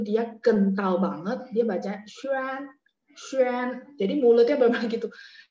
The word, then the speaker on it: Xuan: Tadi kayaknya ada yang tanya Xuan X U A N itu bacanya A-nya agak sedikit E ya. Terus mulutnya bulat.